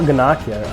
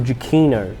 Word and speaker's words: Giacchino: It's not Giannaccio, actually. I mispronounced it in another video. The score of the movie was actually composed by Michael Giacchino.